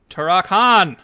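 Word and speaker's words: Turok-Han: the final season uh turakon it's like turok like the game dash han like han solo all right that's wrong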